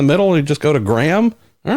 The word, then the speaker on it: Graham: He says, Graham, how would you like your name pronounced? Graham or Graham? Graham.